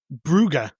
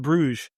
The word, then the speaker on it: Bruges: Brugge instead of Bruges.